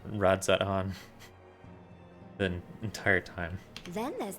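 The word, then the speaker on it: Radz-at-Han: pleased to see you i have not been pronounced pronouncing the z in radzan the entire time then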